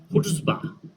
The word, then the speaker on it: chutzpah: और इसकी जो प्रोनाउंसिएशन है हुट्ज़बा, हुट्ज़बा, और सी को साइलेंट कर दिया गया और it means assertiveness, confidence, boldness and arrogance.